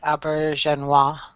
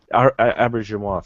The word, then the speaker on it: Auberjonois: Yeah, I think it's something like Aubergenois. Aubergenois, thank you, Don.